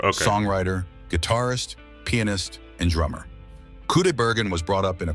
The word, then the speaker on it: Kudaibergen: Kudaibergen, that's how you say it.